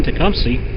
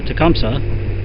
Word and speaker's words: Tecumseh: town I live in Tecumseh or Tecumseh however you want to pronounce it um Chief Tecumseh